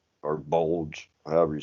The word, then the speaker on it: Bolg: It's really Bold or Bulge, however you say his name. It's Bulge.